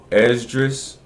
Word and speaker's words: Esdras: Let me get my pronunciation right. Esdras.